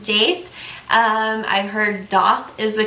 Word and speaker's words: daith: I've heard it pronounced Daith and I've heard it pronounced Daith.